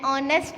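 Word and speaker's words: honest: My uncle is एन ऑनेस्ट businessman. अब ऑनेस्ट में देखें फर्स्ट लेटर हमारा एच है जो कि कॉन्सोनेंट है, लेकिन यहाँ पे हमने एन की यूज़ किया है क्योंकि एच हमारा साइलेंट है।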